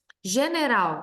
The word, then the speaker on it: general: General, a sílaba tônica é a oxítona ral, e a palavra é classificada em trissílaba.